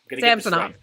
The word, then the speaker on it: Samsonov: Ilyas uh sensona samsonoff samsonov yes they did specify it is Samson not Samsung someone with a name